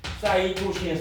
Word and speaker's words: 사이토신: C는 사이토신이라고 습니다. 사이토신. 사이토신 사이토신. 사이토신. 전 세계 사람들이 다 이렇게 읽어요.